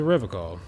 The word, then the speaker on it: Revachol: Welcome to Revachol. Welcome to Revachol. Revachol. Okay. Been pronouncing that wrong, too.